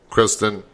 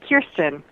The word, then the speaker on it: Kirsten: The first name is Kirsten. Okay. That's, I don't know why. I put an R in there.